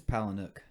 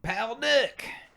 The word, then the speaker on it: Palahniuk: I think it's Palahniuk. He's been on Rogan a bunch of times. I figured you'd watch him before. Yeah, but I don't remember his name. That's all Rogan calls him. Palahniuk.